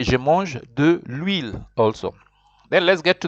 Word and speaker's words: huile: De l'huile. You will see there that H is considered muet. Remember what is muet? I told you muet is silent.